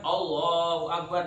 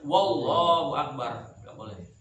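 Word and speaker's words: الله أكبر: Allah ditambah huruf wau Harusnya kan Allahu akbar dia bacanya wallahu akbar ya harus Allahu Akbar bukan wallahu akbar ya kalau dia tambah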